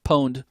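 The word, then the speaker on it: pwned: I'm not mispronouncing that. Poned. Pwed. Poned. It comes from a there was a game that they released and somebody fat fingered uh where it was supposed to say you got owned when you were killed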